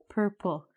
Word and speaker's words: purple: Purple. Again, I told you if it ends in LE, we're going to actually put another syllable here.